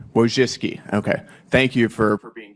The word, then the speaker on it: Wojcicki: Miss, Wojcinski, is that how you pronounce it? Yes, Wojcicki. Wojcicki, okay.